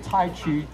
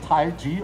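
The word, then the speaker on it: 太极: into the taiji forums most people would say Tai Chi but it's actually pronounced taiji like j i and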